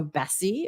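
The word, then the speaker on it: BSEE: safety and environmental enforcement so Bessie is how it's usually uh pronounced B uh which is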